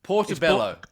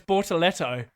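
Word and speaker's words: Bortoleto: Portobello. No, it's Bortoletto.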